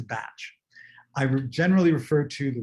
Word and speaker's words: Bach: heard in the video, they refer to him as Dr. Bach. He was actually Welsh, not German descent. So the Welsh pronunciation is Bach. I generally refer to the remedies as the Bach Flower Remedies because most